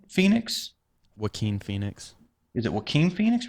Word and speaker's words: Joaquin: Is it Jacqueline Phoenix? Joaquin Phoenix.